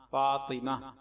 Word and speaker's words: فاطمہ: ما نون ساکن ایمان، فا الف زبر فا طا زیر طی میم ہا زبر مہ فاطمہ، ایمان فاطمہ۔ کچھ لوگ